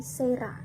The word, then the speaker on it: Cera: Nah, kemudian C dibaca S jika diikuti huruf E, I, Y. Nah, misalnya ada tulisan cera, kalian bisa melihat cera alba, cera apa? Nah, itu bukan cera tetapi sera.